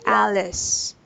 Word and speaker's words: Alice: you say the name it should be Alice out because we're learning the short a sound which is ah right yes Alice and